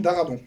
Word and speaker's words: Darabont: sur la prononciation, Darbon ou Darabon? Franck Darabont. Darabon.